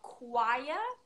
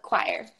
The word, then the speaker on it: choir: Someone's asked about choir. We'd say choir. Choir. So you would just pronounce the R. It's the only thing that's different. Yes.